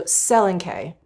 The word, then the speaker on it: Selenkay: Can I Let me look that up. Okay, the stress falls primarily on the first syllable. Okay, so Selenkay.